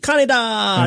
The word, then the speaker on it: Kaneda: How do you actually pronounce his name? Because I don't know. Perfect. Kaneda!